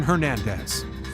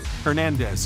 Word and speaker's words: Hernandez: So, Aaron Hernandez. Hernandez is. So again, it's pronounced Z.